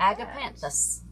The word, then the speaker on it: agapanthus: it correctly am I am I real it's pronounced just like agapanthus agapanthus okay do they grow where you're where